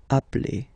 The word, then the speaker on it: appelle: So when you get this E vowel and then you get a double consonant, and well, they are the same, then it does change the pronunciation of E. You tend to pronounce it like really open. That's the reason why you pronounce it appel, okay?